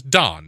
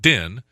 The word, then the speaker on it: Don: My name is Don, not Din. There's no E at the end of it.